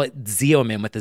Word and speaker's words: Xeomin: Well, if everyone would stop pronouncing X's that way, then we wouldn't have this problem. It's so true. Xeomin is what it should be.